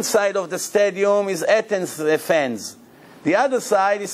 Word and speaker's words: Athens: Athens, that's how you say it in English.